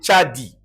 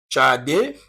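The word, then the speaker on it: Tsadi: Il s'agit de tchadi. Tchadi, regardez bien. C'est comme ça. On appelle tchadi. Donc, c'est lit tchadi ou bien tchadé ou tchadik. C'est bon? Notez ça. Tchadi, tchadé, tchadik.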